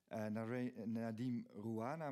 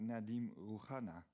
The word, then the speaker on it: Nadim Rouhana: name not correctly, that I should not say Nadim Rouhana, but Nadim Rouhana.